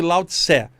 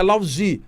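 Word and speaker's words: 老子: corte chinese chinesa e a gente chama aqui no Brasil de laut Sé mas na verdade a pronúncia lauzi pronúncia chinesa uma amiga minha de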